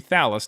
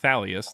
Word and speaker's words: Thallus: Yeah, that'd be Thallus, not Thalius. There's no I.